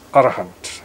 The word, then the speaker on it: arahat: Sometimes pronounced as arahant, okay?